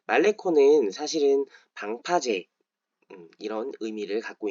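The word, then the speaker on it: Malecón: 말레콘 떠올리실 것 같아요 말레콘이라고 스페인어로는 발음을 할 텐데요 말레콘 사실은 방파제음 이런 의미를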